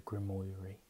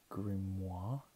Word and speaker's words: grimoire: I say it wrong I used to call it the grim O'Leary I do believe it's the grimoire if you're a player